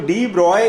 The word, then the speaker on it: de Broglie: तो डी ब्रॉय, इसको हम डी, इसका सही प्रोनाउंसिएशन होता है डी ब्रॉय हाइपोथेसिस।